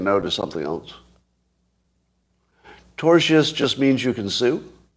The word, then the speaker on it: tortious: Tortious is how you say it, I'm told.